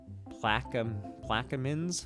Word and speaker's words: Plaquemines: He also wanted to let me know that you say it Plaquemines Parish and Endymion Crew. You had this because spelled apparently phonetically, didn't you?